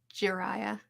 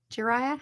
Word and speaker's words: Jiraiya: Kakashi over Jiraiya. Jiraiya? How do you say his name? I think you said it right.